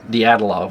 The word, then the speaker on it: Dyatlov: Now, you how do you pronounce that? Dyatlov.